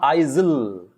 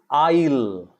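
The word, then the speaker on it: aisle: then you have a-i-s-l-e remember it is not isil it is isle i ill i'll i'll i'll it's not isil it's isle isle what is an island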